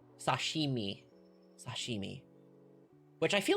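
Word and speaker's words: 刺身: Sajimi. Sashimi.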